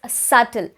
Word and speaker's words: subtle: very light subtle subtle even here the b is silent it's subtle i gave him subtle